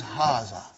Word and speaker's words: هَذَا: pronounced like haha huh but this Aleph is not written it is explaining the key also so it hazzah okay haza means this and Brayton